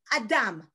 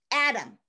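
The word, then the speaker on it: אדם: The word in Hebrew for human is Adam, Adam. Do you know this guy from the Bible? No clothes on. Yeah, that guy, okay? Adam, built of two syllables, ah and dam.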